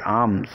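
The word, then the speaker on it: alms: शे दोएस आर्म्स इस mail silent होगा उच्चारण में बोलेंगे आम इसका अर्थ है निर्धनों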